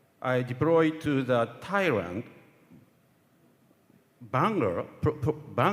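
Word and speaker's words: Phang Nga: At the great tsunami disaster in 2004, I deployed to the Thailand, Bangor province, my pronunciation is correct, Bangor, as a member of the JDR medical team.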